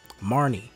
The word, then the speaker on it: Marnie: Marnie, that's her name.